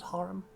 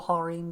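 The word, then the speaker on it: harem: place within the emperor's harum or harim depending on how you wish to pronounce it.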